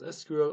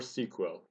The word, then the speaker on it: SQL: this introduction part Square can be pronounced as SQL or sequel both of them all right and it's